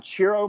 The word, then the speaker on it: Ciro: but correct me uh ciro marchetti so yes cheers like yeah cheers i was saying zero forever and people are like it's jiro just so you know